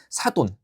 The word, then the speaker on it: 사돈: 사돈 그죠? 얘도 사둔이라고 잘못 발음하는 경우 있는데요.